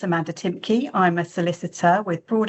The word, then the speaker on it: Timcke: Um, so you can pronounce my name. It's Amanda Timky.